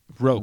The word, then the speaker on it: ROQ: ROQ Action. Roke, Rings. like woke.